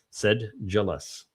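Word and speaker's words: sedulous: They tell you selus uh as the uh is the proper pronunciation. Said jealous. Um you know what's of course is interesting. It's said which would be sed but then jaw. How did you get the jaw out of ul?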